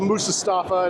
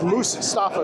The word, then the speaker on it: Moosestaffa: There is an S after the E. A lot of people, the AI can't pronounce it right. They call it Moosestaffa, and that's wrong. And Sim Caesar bugs me about it too, but it's Moosestaffa. It's to say it's 2 words.